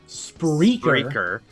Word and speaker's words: Spreaker: Spreaker. That is spelled SPREAKER.